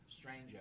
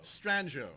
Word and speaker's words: Stranjo: It rhymes with Banjo. So Stranjo. Stranjo.